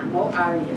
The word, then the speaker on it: Maurya: Yeah, Maurya.